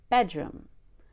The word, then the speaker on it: bedroom: I relaxed bedroom bedroom so what I find with non-native speakers whom I teach is that they don't know how to relax on the syllables that we don't stress they have too much energy put forth on the word room when we say bedroom they'll say bedroom that's too much energy you need time to relax we relax